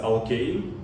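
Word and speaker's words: alkane: остання з англійської літератури воно пишеться однаково алкан алкенукім але вимовляється зовсім по-іншому тобто якщо буде щось будете читати дивитися то ви фактично маєте знати що алкан - це алкейн алкени це алкіни А алкін - це алканів це навпаки доволі складно насправді Ну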